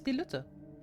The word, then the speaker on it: DieLuette: do you pronounce my name my name is diluta that's how you pronounce it it's big green ugly guy that